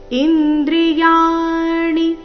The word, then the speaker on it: ಇಂದ್ರಿಯಾಣಿ: बुद्धिरव्यक्तमेव च इन्द्रियाणि दशैकञ्च ಇಂದ್ರಿಯಾಣಿ ಇಲ್ಲಿ ಯಾ ದೀರ್ಘ ಮತ್ತೆ ಮುಂದೆ ಣಿ ರಸ್ವ ಬರಬೇಕು.